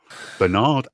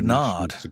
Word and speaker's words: Bernard: Bernard Abbott from the Bernard. Why do Americans say Bernard? It's Bernard. Bernard.